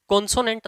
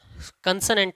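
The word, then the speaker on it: consonant: ध्यान रहे, बच्चे इसको पुकारते समय अक्सर गलती कर बैठते हैं, ये कॉन्सोनेंट नहीं कंसोनेंट होते हैं। जी हाँ, ये कॉन्सोनेंट नहीं कंसोनेंट होते हैं और यही इनका राइट प्रोनाउंसिएशन है।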